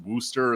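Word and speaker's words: Worcester: called spelled warchester but i think it's probably pronounced wooster or something like that i don't know i'm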